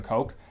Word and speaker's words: Koch: You tell us that Heckler & Koch, or Koch, depending on how you pronounce it, is a very popular German arms manufacturer.